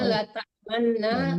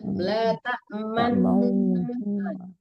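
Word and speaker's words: لَا تَأْمَنَّا: La ta'manna ya tulisannya la ta'manna di bawahnya ada ismam tulis bacaannya ya membacanya menunjukkan mulutnya la ta'manna menunjukkan mulutnya takdemnya tetap ya tapi la ta'manna di surat Yusuf ya di surat Yusuf.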